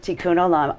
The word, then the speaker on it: Tikun Olam: I say it correctly tun Alam thank you tun Alam um well it's a miracle yeah it really